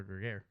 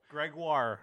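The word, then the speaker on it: Grégoire: What'd you call him? Jean-Francois Greger. Oh, they said Gruyere. No, like the cheese. No. No. I probably butchered it, but whatever. Coach of Baie-Comeau. Gregoire. Yeah, Gregoire. That's what it is.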